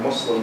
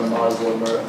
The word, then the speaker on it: Muslim: at least I would say in my family, the way they say it is Islam or Muslim with a soft S, not a Muslim but whenever someone says